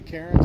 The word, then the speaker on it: Cairns: It's Tracy Cairns, and the last name is spelled C-A-I-R-N-S.